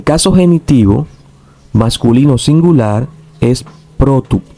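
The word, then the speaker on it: πρώτου: El caso genitivo masculino singular es protu. Sin embargo, aquí podemos ver cómo el acento circunflejo ha cambiado. Ahora tenemos el acento agudo.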